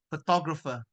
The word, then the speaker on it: photographer: The stress is on the second syllable, photographer.